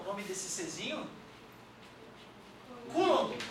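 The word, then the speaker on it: coulomb: o nome desse cezinho coulom se escreve coom mas a gente não lê aquele ouu ali é coulom beleza e também se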